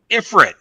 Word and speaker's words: Ifrit: over the world like the proper enunciation is Ifrit yeah and like for a second uh um